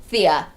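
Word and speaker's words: Phthia: Thea.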